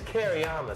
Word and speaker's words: Kereama: How do you pronounce it? It's Kereama. So we're going to study it. Okay, cool. Yeah. So Jude Kereama, it's great to have you up at Peru